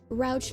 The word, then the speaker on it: Rouch: Oh, you're the person who's like, yeah, you pronounce it like couch. I remember you. Okay, Rouch like couch.